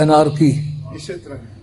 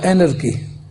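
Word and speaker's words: anarchy: میں کہتے ہیں اینرکی۔ پاکستان میں اس انگریزی کو یوں تلفظ کیا جاتا ہے انارکی، صحیح تلفظ اس کا اینرکی۔ اس کا اور آسانی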